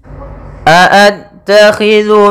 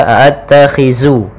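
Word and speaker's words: أَأَتَّخِذُ: Pada bacaan a'attakhidhu min dunih, hati-hati dalam pelafalan zal, jangan sampai terbaca dengan huruf zai, jangan dibaca a'attakhizu, tapi dia zu.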